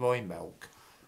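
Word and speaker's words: Imbolc: at the time of the celtic festival of roy milk which is spelt i-m-b-o-l-c or that the week off in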